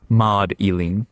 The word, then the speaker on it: Magdalene: In medieval England, her name was not pronounced with a hard. It was pronounced more like Maud Eileen, and people started to